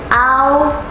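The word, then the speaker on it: ㄠ: out repeat after me ow ow the equivalent would be how you pronounce the symbol a o in pinking which is also ow ow ouch without a CH ow ow ow there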